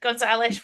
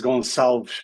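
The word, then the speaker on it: Gonçalves: I was trying so hard that I think I just absolutely messed it up. It was very close, though. It was Goncalves Pedro.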